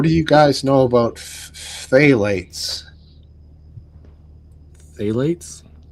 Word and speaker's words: phthalates: What do you guys know about phthalates?